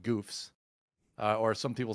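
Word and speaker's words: Goufs: mobile suits that are no joke they're called Goofs uh or some people say GS but it's really you see pronounced Goofs they even say it in the show in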